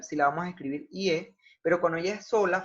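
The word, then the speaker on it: 夜: Por eso el cambio ortográfico es que debo escribir una Y con una E. IE, en cuarto tono.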